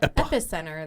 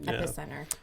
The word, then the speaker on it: epicenter: for epicenter or epicenter they don't pronounce it right they pronounce it wrong damn it some people were saying epicenter is epicenter well epic center that's where an earthquake originates it's an epicenter well anyway i missed